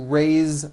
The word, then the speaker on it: raise: Raise, meaning like to raise my hand. Now this word is a bit unusual because even though it is spelled with an S, it's pronounced with a voiced Z.